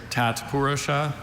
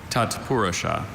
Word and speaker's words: tatpurusha: Are there any alternate pronunciations? There's Tatpurusha and Tatpurusha.